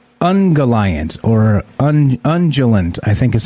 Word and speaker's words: Ungoliant: And yes, the name is pronounced Ungoliant, but it's spelled Ungolint.